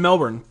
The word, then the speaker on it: Melbourne: Actually, they live in Melbourne, so I pronounced that one right.